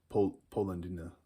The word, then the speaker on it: Polendina: Polendina is how you say it in Italian, I guess.